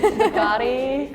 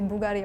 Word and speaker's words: Bugatti: Bugatti I think still if like you're technically pronouncing it right it should be like Bugatti but if you're listening to most people but I we still understand it like if you say Bugari I like okay acceptable yeah in France we